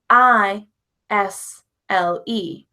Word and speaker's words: aisle: But think about the word a i s l e. A i s l e isle. Like in the aisles of a store. That word isle has the same pronunciation of isisle.